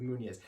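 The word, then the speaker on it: Muñoz: Anthony Munoz. Munoz, yes.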